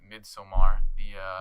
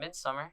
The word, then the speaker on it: Midsommar: about like today we're gonna we both watched Midsommar. What the fuck did you say? That's how it's pronounced, right?